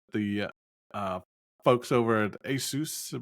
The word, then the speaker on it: ASUS: I used I always, for the record, I always would say ASUS, but I think the right way is ASUS, like you said, but I know I know I say it wrong.